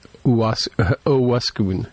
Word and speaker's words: Owosekun: And it's Lieutenant Owosekun. And again, I mispronounced it last week as well.